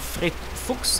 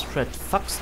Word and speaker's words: Fred Fucks: für die schee zu Fred Fuchs sagen aber der N spricht das Fred Fax aus er istens wegen der englischen pronounciation und zweitens weil der